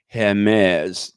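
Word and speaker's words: Hermès: Hermes.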